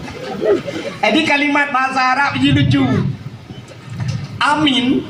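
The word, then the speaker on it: آمين: Na sabah te amin aman. Nabi Ibrahim pernah berdoa rabbij'al hza baladan amina. Amin. Ya Allah jadikan negeri ini negeri yang a aman. Sabah te amin. A panjang min panjang.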